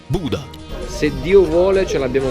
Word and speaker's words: Bodø: Poco dopo a Bodo, che si legge Buda.